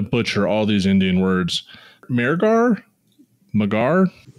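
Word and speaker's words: Mehrgarh: Megarh? Megarh. I think Megara is a fair pronunciation.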